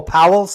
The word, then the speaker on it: Powell's: Oh, Powell's like John Wesley Powell.